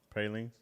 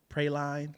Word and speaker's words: praline: it praline oh uh-huh pralines pralines uh like a piece yeah yeah they'll mess you up I said Pro I think I when I first saw I tried to pronounce it like pray line oh no because I've